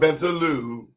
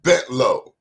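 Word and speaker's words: Bentalou: Not Bentaloo, that a lot of those new television people, the way they pronounce it, it's Bentlow.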